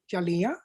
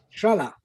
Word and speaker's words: Jalea: And his name is Ion Jalea, right? Ion Jala. Sorry? Ion Jala. Jala, thank you.